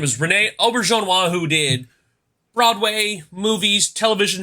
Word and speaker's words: Auberjonois: Played by actor Rene, and I had to find a YouTube video to pronounce this right. Mm-hmm. He is played by the late Rene Auberjonois.